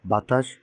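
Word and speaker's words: ب: তারপরে আছে বা। এই বা হরফের উচ্চারণটা হবে দুই ঠোঁট একত্রিত করে, মুখ বন্ধ করে দুই ঠোঁট একত্রিত করার পরে তারপর দুই ঠোঁট পৃথক হয়ে যাবে, তাহলে উচ্চারণ হবে বা, যেরকম আপনারা এরকম ফটোর মধ্যে দেখতে পাচ্ছেন।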